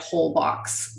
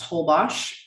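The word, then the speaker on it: Holbox: called holwash it's pronounced in english you would read it whole box but it's pronounced holbosh and it's north of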